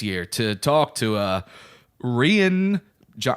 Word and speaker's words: Rian: to talk to a rien Jong I'm not saying Ryan it's spelled RI a and Ryan it's rien that's yeah I I